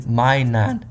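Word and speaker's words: マイナン: While commonly theorized to represent the Pokemon characters Plussy and Minun, I cannot see those names, as their Japanese names are pronounced Parasusu and Mainan.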